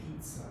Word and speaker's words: pizza: Or the ZZ in pizza. Pizza. Is that right? Yeah. I think that's like distinctly Italian. Is that the double Z's is like a tss.